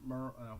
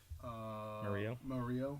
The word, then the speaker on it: Murillo: Yeah, after he's mixed in with failed Thomas, Premier League for a couple of years, but and then Muriel, how do you say his name? Murillo, yeah, and then they have Cuadrado, sorry, and then the guy from Brighton.